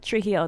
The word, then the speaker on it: Trujillo: you say his last name i was like trijio that's britney's lesson that's amazing that's exactly how